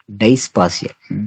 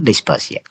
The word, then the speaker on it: dysphasia: ಡೈಸ್ಪಾಸಿಯಾ, DYSPHASIA, DYSPHASIA, ಡೈಸ್ಪಾಸಿಯಾ. ಸೊ ನೋಡಿ, ಇಲ್ಲಿ ಉಚ್ಚಾರಣೆ ಮಾಡ್ಲಿಕ್ಕೆ ತೊಂದರೆ ಆದ್ರೆ, ಓದುವಾಗ ತಡವರಿಸಿದ್ರೆ ಅದನ್ನ ನಾವು ಡೈಸ್ಪೋನಿಯಾ ಅಂತ ಕರಿತೀವಿ.